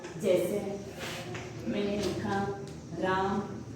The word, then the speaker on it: रामः: जैसे मैंने लिखा राम, 2 ये लगाए, विसर्ग लगाए, अब इसका उच्चारण हम क्या करेंगे? ह करेंगे, ये क्या होगा?